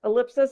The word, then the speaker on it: ellipsis: word ellipsis ellipses now that is another word that could be a little tricky to pronounce yes ellipsis and plural is the